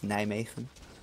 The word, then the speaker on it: Nijmegen: It's fucking Nijmegen. Oh god, don't say that. It's rigged to blow. And for future reference, it's Nijmegen.